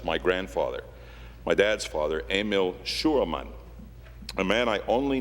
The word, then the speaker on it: Emil: It is Emil, pronounced in the German way.